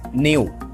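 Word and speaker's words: gnu: इसे गुणों पर देखे तो कुछ लोग इसे जी साइलेंट कर देते हैं और नऊ पर देते हैं अब अगले बिजनसमैन देसी निडर गुणों no basis न्यू न्यू न्यू एक नया वाला ने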